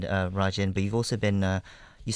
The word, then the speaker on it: Rajin: Chinese were pouring a lot of money into Rasun, the northernmost port. I'm sure I say it wrong. How do you say it? Rajin, you mean?